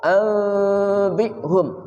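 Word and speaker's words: أَنْبِئْهُمْ: Nun mati bertemu ba namanya iqlab. Iqlab artinya membalik. Qalab membalik atau menukar. Suara nun menjadi mim. Awalnya an, balik menjadi am. Ya. Yang paling bagus bacanya, ya, suara mimnya itu dibaca samar. Ya. Anbi'hum beserta gunnah, kedua mulut dibuka sedikit.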